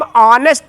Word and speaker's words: honest: आई एम ऑनेस्ट मैन। अब ऑनेस्ट का पहला अक्षर H कॉन्सोनेंट है, उच्चारण क्या आता है, बड़ा आ से, इसलिए एक के लिए क्या लिखेंगे, एन।